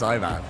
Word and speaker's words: Ivan: It's not Uvan, it's Ivan.